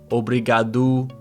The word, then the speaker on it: obrigado: Now, the thing to remember is that an O at the end of words is pronounced with an U sound. Rato, riu, obrigado, and then also an O by itself.